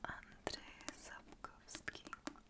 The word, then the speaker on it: Andrzej Sapkowski: a Polish author named Andrzej Sapkowski Just imagine I pronounced the Polish rz right If he were Czech,